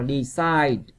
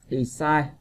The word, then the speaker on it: decide: Còn câu D á, các bạn đọc là decide, decide, nó chính là âm I nhấn vào nó ha, nhấn âm lớn hơn.